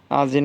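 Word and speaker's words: один: শূন্য আজিন মানে এক এটার উচ্চারণ অনেকে আদিন বলে কিন্তু এটার উচ্চারণ আসলে সঠিক ভাবে আজিনই হয় আজিন মানে এক দাভা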